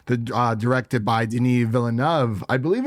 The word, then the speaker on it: Villeneuve: uh directed by Den vov I believe it's vov I've heard of villu but I believe it is vov vov sounds right yeah and the writers